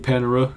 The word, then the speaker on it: Panera: it differently I'm just going to keep saying Panera cuz I don't know I'm like that with